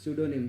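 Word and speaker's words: pseudonym: स्यूडोनिम P silent रहता है, इसे स्यूडोनिम बोला जाता है।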